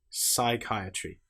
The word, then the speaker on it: psychiatry: Or how about the example of the letter P when it comes before the letter S? Psychology, psalm. Here we don't pronounce the P at all. We just pronounce the S sound. Psychology, psychiatry. The P is completely silent.